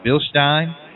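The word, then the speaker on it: Bilstein: thank Mr Jim Highland coming on from uh billstein and he said if you win in his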